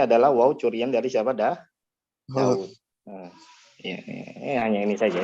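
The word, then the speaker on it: داود: Secara bacaan ada, tapi tulisannya tidak ada, seperti waw pada Daud tadi. Nah, tulisannya nggak ada, tapi bacaannya tetap harus ada Daud. Jadi bukan Daud, tapi Daud. Begitu pula apa?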